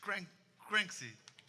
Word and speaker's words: Cranksy: Yeah, and he was the winner of Inércia drum competition 3 years ago, and you still pronounce the name wrong. It's Cranksy. It's a meme.